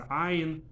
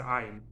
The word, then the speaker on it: ayin: They know how to pronounce the ayin, a strong sound. You know, it's not just a vowel. Most Ashkenazi Jews, European languages, don't have an ayin in them. So most Ashkenazi Jews just pronounce it as the vowel of it.